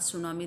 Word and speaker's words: tsunami: का chapter second the सुनामी read करेंगे। यहाँ पे जो वर्ड है, यहाँ इसमें टी साइलेंट है, इसे हम रीड करेंगे सुनामी।